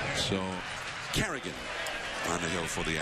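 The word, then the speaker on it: Carignan: And by the way, we double-checked the name of the new Oakland pitcher is pronounced Carrigan. He's one of those guys with a silent N. So Carrigan on the hill for the Athletics.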